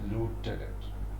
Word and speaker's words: lieutenant: you call it lieutenant there is no f in the spelling but you pronounce it as left and american pronunciation is